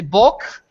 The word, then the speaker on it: bok: When young people are saying hello to each other, we say bok.